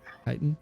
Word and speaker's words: chitin: The armor is more akin to like, to pronounce chitin or chitin? Chitin. Chitin?